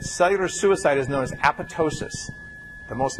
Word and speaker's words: apoptosis: suicide is known as apotosis the most mispronounced oun word in all of biology a p o p t o s i s the second p is silent it's not apoptosis despite